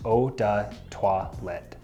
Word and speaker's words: eau de toilette: Following that, we have eau de toilette, which is pronounced eau de toilette.